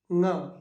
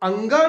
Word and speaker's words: ङ: क, ख, ग, घ, ङ। अब अंगा नहीं बोलते हैं इसे बोलते हैं ङ।